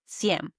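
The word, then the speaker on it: cien: And finally, the big one 100 in Spanish is senm. Think of the word century. A century is 100 years. So when you hear sen, you can link to the word century. 100 sen.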